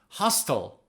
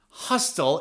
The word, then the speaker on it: hostile: And another adjective you can use is hostile. Hostile is the American pronunciation. British people call it hostile. Hostile, hostile. Both of them are correct.